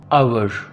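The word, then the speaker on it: hour: आवर घंटा। Students याद रखिएगा कि आवर है ये लफ्ज़, हावर नहीं है। इसमें जो एच है वो साइलेंट है।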